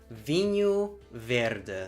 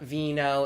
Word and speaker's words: Vinho Verde: The proper pronunciation of this wine is Vinho Verde. It's not vino, it's not vino, it's not anything that has to do with anything in Spanish. It's Portuguese and we say vinho.